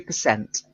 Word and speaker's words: percent: we're talking about percent stress is slightly different so it's 62 percent you'll need to work